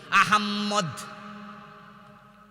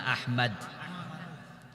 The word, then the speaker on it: আহমদ: আহাম্মদ। কি নাম? আহাম্মদ। আহাম্মদ শব্দটা কি আহাম্মদ না আহমদ আমার বন্ধু শব্দ হলো আহমদ কোরআনে আছে রাসুল্লাহমাস আহমদ